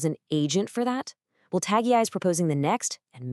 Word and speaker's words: TAGii: So what is TAGii, pronounced TAGI, at its core?